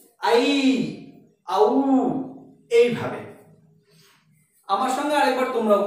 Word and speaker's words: ঔ: সংস্কৃতের ক্ষেত্রে কিন্তু ঐ এবং ঔ এই উচ্চারণটি সম্পূর্ণভাবে ভুল। তাহলে এর উচ্চারণটা কিরকম হবে? না ঐ এবং ঔ এই বর্ণটির উচ্চারণ হবে আই। আই আর নিচেরটা হবে আউ।